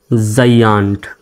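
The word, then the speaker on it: giant: জির পরে আই আছে, তো আই থাকলে কি হয়, জির পরে আই থাকলেও জির উচ্চারণ জ্বর মতো হয়। তাহলে জি আই এ এন টি, জাইয়ান্ট, জাইয়ান্ট, জাইয়ান্ট।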